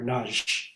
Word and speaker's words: Nagy: So I actually got to study with a quartet cellist who was studying with Wolfgang Laufer named Radu Nagy, or Nagy is how it's pronounced.